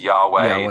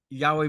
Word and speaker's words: Yahweh: People often pronounce it as Yahweh, though the exact pronunciation is something of a mystery since ancient Hebrew didn't include vowels.